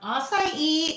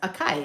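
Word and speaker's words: açaí: Um, acai is a fruit. Um, it does not look like it would be pronounced acai, although it kind of does. Akai. It kind of looks like Akai, right?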